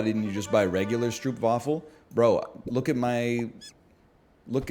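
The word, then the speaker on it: stroopwafel: you just buy regular Stroop waffle bro look at my look at where I am on the map brother slippery pop skills you know what fictive skilled skilled puppies it's actually pronounced stroke waffles that's cool um it's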